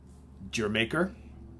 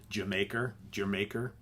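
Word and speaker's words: D'yer Mak'er: Then, of course, you've got Jamaica, okay? All these, everybody always corrects me on how you say it. Jamaica, did you make her? However, Jamaica. I guess that's how it's supposed to be said.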